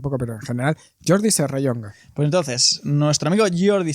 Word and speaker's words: Serrallonga: Si es una elle. ¿Qué no sabes decir la elle? Tú madrileño. No sé, tío, madrileño. O sea, es que para mí eso es como Klingon, ¿sabes? Alto Valirio. Yo no sé cómo se pronuncia. Serrallonga. Pues ya, mira, te perdono que el acento ese de Yunga. Ese no lo hagas, pero la elle. Serrallonga.